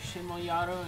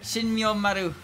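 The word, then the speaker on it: Shinmyoumaru: Shimoyaro interpreted the rumors. That was the worst pronunciation of her name I think I've ever heard. Yeah, look, man, I'm tired. Shinmyomaru. Yeah, that.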